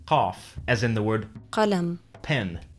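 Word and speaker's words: قلم: Then there's qaf, as in the word qalam, pen. This is like a K, but pronounced further back in your throat.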